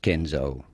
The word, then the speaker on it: Kenzo: man that was named kenzo so that's just kenzo and then of course last but not least how do you go about pronouncing louis vuitton with the typical french pronunciation